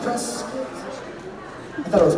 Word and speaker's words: Prescott: It's apparently pronounced Prescuit. I thought it was Prescott, but listen, I'm just I'm taking it from the locals.